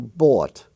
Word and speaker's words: bought: archaic form for example bought i bought some bread b-o-u-g-h-t now the same could be pronounced the same if you spelled it b-a-w-t i bought or b-a-u-t